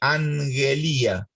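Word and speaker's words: ἀγγελία: tener de algún lado, agelía, en la cual hay una doble gama. En la doble gama, en la pronunciación moderna, se clava una N antes de la G, angelía.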